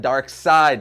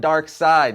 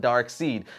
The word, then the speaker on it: Darkseid: they always pronounce it Darkseid Nazi but to prove my point even more complex and Jack Kirby and creator of Darkseid pronounced it Darkseid not dark seed so I would say